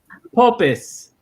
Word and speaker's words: popis: Popis. Popus?